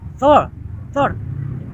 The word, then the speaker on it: Thor: But the foreigner mentioned R is voiceless, right?